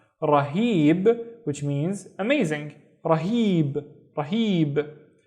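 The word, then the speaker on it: رهيب: The first syllable is ra, and then heeb, heeb. Again, see these 2 loops, the he sound. Rahib, which means amazing.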